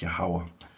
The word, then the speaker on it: Yahweh: There's no J in the Hebrew. Or V's either. It'll be pronounced Yahweh.